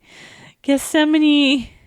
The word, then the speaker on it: Gethsemane: And again, Gethsemane. Gethsemane by Sleep Theory. Is that how you pronounce it?